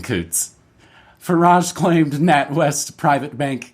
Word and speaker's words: Coutts: Coutts is pretty funny here, at least in the States. It's Coutts. The Alberta border crossing is called Coutts, so I'm going to say Coutts. I like saying Coutts.